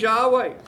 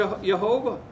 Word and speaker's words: Yahweh: revealed to Moses well his name is Yahweh and is often pronounced that or je yehovah and this has the central